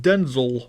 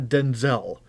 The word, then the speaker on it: Denzel: And apparently it actually is pronounced Denzel Washington, not Denzel. He has actually said that it's pronounced Denzel. I don't get it, but,